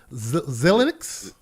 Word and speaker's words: Xilinx: XILI Xilinx? Is it Linux? Like Linux with an X at the front? Yeah, it's like Linux with an X in front of it.